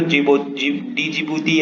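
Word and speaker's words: Djibouti: तो इसलिए इंडिया क्या चाहता है कि जो यहाँ पे जो जिबूती या जिबूती जिसमें डी साइलेंट होता है वो वाला एक देश है ना यहाँ पे, तो यहाँ पे चाइना का एयर बेस है।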